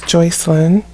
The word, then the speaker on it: Joycelyn: Miss Joycelyn Nicole Wilson, who I was mispronouncing her name. It is Miss Joycelyn.